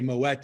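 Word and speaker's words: Moët: mo a instead of moet and i was corrected to say moet so that kind of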